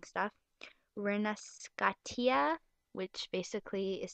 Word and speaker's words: Rinascita: Really bad at pronouncing stuff. Rinascitia, which basically is spelled Rinascita with like an